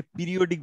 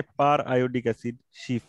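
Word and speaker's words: periodic acid–Schiff: অনেকে পিরিয়ডিক বলে, বানান যদিও একই কিন্তু পিরিয়ডিক না, এটা আয়োডিক অ্যাসিড, পার আয়োডিক অ্যাসিড, সেখান থেকে পার আয়োডিক অ্যাসিড শিফ, শিফ একটা রিয়েজেন্টের নাম, ঠিক আছে?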